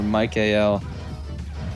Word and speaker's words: Michael: name is Michael or Mike Al kind of weird how it's pronounced in the anime but it's spelled just like Michael dude they they killed